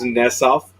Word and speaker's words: Nesoff: So it is Nesoff, and I have to come clean, Bob. For 5 years, I've been pronouncing it incorrectly.